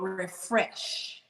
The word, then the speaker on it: Rephresh: There is a gel called Refresh. It's spelled REPHRESH. And it's like the pH.